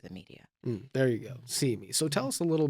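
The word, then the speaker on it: CIME: correct that is correct we pronounce it see me for short c-i-m-e because it's about representation and what we see who we see how we see through the media there you go see me so tell us a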